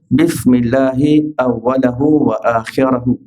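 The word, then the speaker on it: بسم الله أوله وآخره: Satu yang saya sebutkan tadi dengan baris atas pada huruf lam dan ra, lahu dan akhirahu.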